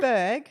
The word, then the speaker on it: Burg: Berg. Okay. Like as in burger. Yeah. B-U-R-G. Yeah. Okay. Totally. Just checking. I think 'cause so. How else would you? Berg. Berg. No, Berg. Berg. Charlie Berg.